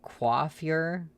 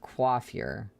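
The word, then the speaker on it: coiffure: You were trying to tell me how to pronounce that word. Okay. Quaffure or hairdo is is Yeah, I thought it had something to do with her hair. Was never seen that word before. Quaffure.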